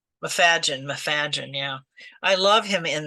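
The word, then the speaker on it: Macfadyen: I mean, it's, I love Matthew Maffei. How did you say his name? Mafadgen.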